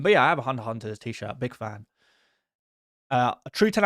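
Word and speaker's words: Hunter × Hunter: Hunter X Hunter. Oh, sorry. Not pronounced Hunter X Hunter. It's Hunter Hunter is better.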